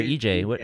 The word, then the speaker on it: EJ: Is it Edge or EJ? How do you say it? It is EJ.